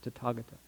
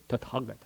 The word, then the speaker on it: Tathagata: 1, 2, 3, 4 A's in that word, Tathagata. The H is silent. So it's not ta, you don't tha in Sanskrit. You Sanskrit has all these Tathagata, right?